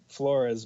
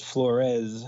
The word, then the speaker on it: Flores: I've always been Flores, but my sister, when trying to get into college, started pronouncing it as Flores, so she could get some special grants and whatnot.